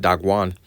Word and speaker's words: Dagon: All right, and it will be pronounced Dagwan.